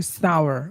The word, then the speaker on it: sour: এটা সোর না, উচ্চারণ হবে sour.